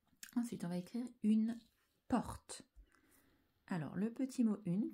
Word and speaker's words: porte: une porte t et attention pour que le t s'entende un e muet à la fin et je n'oublie pas